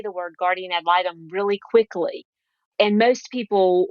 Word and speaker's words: guardian ad litem: this is a guard it's actually three words it's guardian and then add a d and then litum l-i-t-e-m so a guardian ad